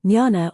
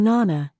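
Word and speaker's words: jnana: five yogas Jana yoga Jana Nana or Nana as it is pronounced in different parts of India is the yoga of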